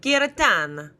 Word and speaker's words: Giratana: So you could say Geratana or Giratana or Geratana. That's actually better for me. Giratana.